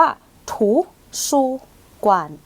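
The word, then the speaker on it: 图书馆: ค่ะ อ่ะ คำ นี้ 3 พยางค์ อ่าน ว่า ถู ซู กวาน ถู ซู กาน ถู ซู กวาน จะ แปล ว่า ห้อง สมุด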